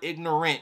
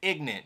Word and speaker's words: ignorant: young and ignorant podcast not the full word ignorant you have to add some Hood black accent on there ignant young and ignant podcast we've already been Eight